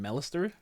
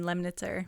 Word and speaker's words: Lemnitzer: me on his name because I can't can't pronounce his name Lyman mellister uh uh Lyman lemnitzer you'd have to be like that oh true